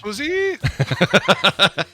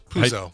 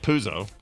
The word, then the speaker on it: Puzo: Puzi? Have you heard of Mario Puzi? Mario Puzi. So hold on, the real guy, Mario Puzo. Now I've lost how to say it. Puzo.